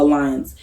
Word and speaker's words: Allianz: In my experience, I've searched a few and I use Alliance, ALLIANZ. It's not spelled normally, it's spelled with a Z, so Alliance.